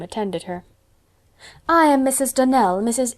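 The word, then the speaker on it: Donnell: you pronounced our name Donald now Miss Shirley the correct pronunciation of our name is Danelle Accent on the last syllable I hope you'll remember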